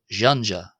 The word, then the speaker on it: ϫⲁⲛϫⲁ: Uh and that's because it's not j as in our English word jam. It's as in the French word or the sound in the English word measure. J and it's therefore jeanja jeanja.